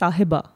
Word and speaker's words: Sahiba: Yeah, you also have the audio tag for your pronunciation. Yeah, because everyone calls Sahiba. My name is Sahiba.